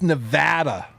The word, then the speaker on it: Nevada: It's Nevada rhymes with dad.